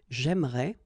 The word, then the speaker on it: j'aimerais: the same thing, because even if you get this here and here, you don't pronounce it. So it will go like j'aimerais, or then j'aimerais. Remember, phonetically they are the same.